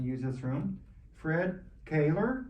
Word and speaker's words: Koehler: Hey, I'm Fred Caylor.